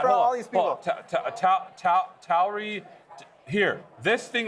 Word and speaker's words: Tauri: Yes, Tauri.